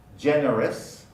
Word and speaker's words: generous: Generous, generous is now generous, generous for many speakers.